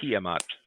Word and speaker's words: Tiamat: Tiamat.